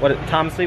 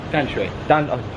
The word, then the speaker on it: Danshui: Taipei and up to, Tamsui, what's the correct pronunciation? Danshui. I'm completely off, Tamsui, Danshui.